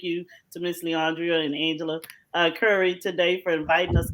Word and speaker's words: Angela: It is actually pronounced Angela. It I'm used to people calling me Angelia.